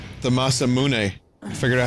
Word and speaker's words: Masamune: a little shorter in this game the masamune i figured out how to say it guys